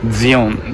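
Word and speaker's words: Sion: れども、シオンと書いてドイツ語読みだとジオンですね。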